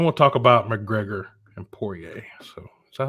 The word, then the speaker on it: Poirier: And then we'll talk about McGregor and Poirier. So is that how you pronounce his name? Poirier?